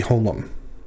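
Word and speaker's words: holam: that uh comet's khatuf the long o class vowel is the hollom and it's pronounced like the o in role and it's translated using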